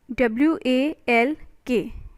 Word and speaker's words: walk: right next is fork w-a-l-k isn't it walk so lk is your silent walk next is doubt d-o-u-b-t